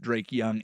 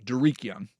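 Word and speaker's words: Dareke Young: 3 wide receivers did not participate in practice: Cooper Kupp, Drake Young, and Jake Bobo. If you have not heard of, Derek Young. Mispronunciation.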